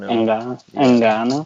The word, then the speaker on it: Ngannou: Ngannou. Ngannou.